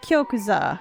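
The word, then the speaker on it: 玉座: all right uh if you shrink down the yo and make it small and you put an accent on the saw you get kyokusa which is the word for throne or a word for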